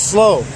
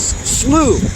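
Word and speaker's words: Slough: elorn SL I kept I kept referring to it as slow some guy said no no it's not it's not slow it's slooh why didn't they spell it s l e w so anyway we're at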